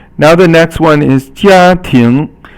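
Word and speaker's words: 家庭: Now the next one is 家庭. So 家 is first tone, and 庭 is second tone.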